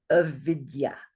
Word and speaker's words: avidya: wheel of life is avidya. Avidya. 3 syllables, 3 beats. Why does it only have 3 beats? Is it because there's no aspirated? Oh, sure. All short, exactly.